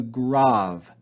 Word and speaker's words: grave: The second accent mark is called the grav, grav. Don't pronounce this as grave, it's grav.